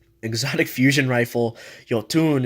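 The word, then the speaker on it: Jötunn: exotic fusion rifle you'll tune is what they pronounce I'm gonna pronounce it yotan is that's how I think of it because Norse mythology it's a Megaman blaster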